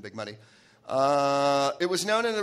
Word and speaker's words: Big Muddy: I mispronounced it earlier. It's waist deep in the Big Muddy.